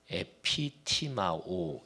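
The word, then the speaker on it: ἐπιτιμάω: 근데 이게 헬라어 동사가 에피티마오 이렇게 발음해.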